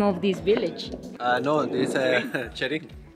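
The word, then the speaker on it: Cherín: Cherin. Cherin. Ah. Cherin. It rhymes with my name.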